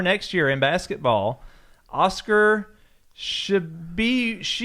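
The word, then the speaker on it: Tshiebwe: Oscar Shibwe. Just pronounce it like it's spelled.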